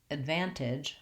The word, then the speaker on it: advantage: Then I can say advantage. I'm just adding a little bit of a d sound to my So a van, advantage. That's the technique to help you get that unstressed, light, short first syllable.